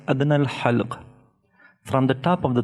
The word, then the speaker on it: ح: So how to pronounce these? Ha, ha, ha, not kha, ha. If it was light, then you should pronounce it kha, but it is bold.